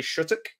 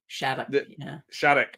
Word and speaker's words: Shattuck: British accent of, and I always say her name wrong, but Shari Shuttock. Shattuck, right. See, I knew I'd say it wrong.